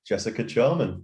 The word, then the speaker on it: Jessica Charman: fellow brit and charlotte fc radio color commentator jessica charman welcome to the show you got my name